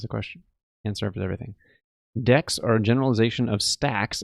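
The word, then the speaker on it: deque: called a deck a it looks like DQ but it's supposed to be pronounced deck I believe and it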